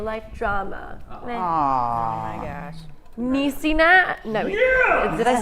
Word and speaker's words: Niecy: Niecy No, did I say it right that time? Niecy?